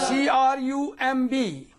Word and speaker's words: crumb: We don't pronounce this here. C-O-M-B. Comb. We don't say it. Right? Yes, sir. C-R-U-M-B.